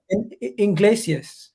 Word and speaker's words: Iglesias: you pronounce it langley you mean the center back barcelona iglesias like enrique iglesias but literally his name is iglesias literally like same spelling is enrique iglesias the singer it's the weirdest thing